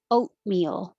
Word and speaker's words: oatmeal: say close the fridge oatmeal don't say the tea just put your tongue in the t position oh meal you don't even really have to make the tea position oatmeal if you just said oh it sounds the same i had i had